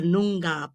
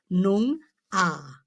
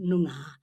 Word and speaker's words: Noongar: With Aboriginal words, it's the accent is placed on the first syllable, not the second. So it's Noong ah, like the G is almost silent. Noong ah.